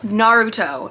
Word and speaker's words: Naruto: Naruto Naruto from colourpop Naruto is how you pronounce it I just looked it up on Tick Tock thank you colourpop they